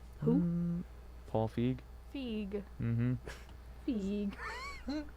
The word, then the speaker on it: Feig: Feig. Like Eve.